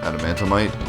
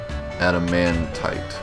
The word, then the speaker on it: adamantite: Adamantomite? Is that how you say it? Adamantite.